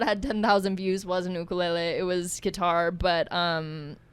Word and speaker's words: ukulele: it one more time ukulele is that a hawaiian pronunciation yes it is okay we'll get into it you mean the right pronunciation yeah literally the correct way to say it yeah because i caught